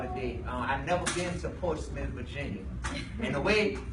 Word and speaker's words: Portsmouth: I've never been to Portsmouth, Virginia. And the way it's spelled, I kept saying online, I was posting Instagram videos, I kept saying Portsmouth.